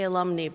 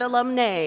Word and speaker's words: alumna: Alumni Award recipients and I say alumna because that's the right way to pronounce it I was corrected just a couple days ago not alumni alumnus we are presenting five